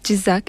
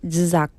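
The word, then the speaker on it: Jizzakh: My hometown called Jizak is a little bit difficult, to pronounce. Everybody do it with me. Jizak, okay?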